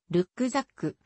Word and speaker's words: Rucksack: ナップザックなどもあるドイツ語本来の発音はルックザックリュックオランダ語で